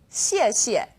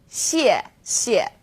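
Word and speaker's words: 谢谢: You can think of it kind of like the word she and 谢. Not too hard, right? 谢谢.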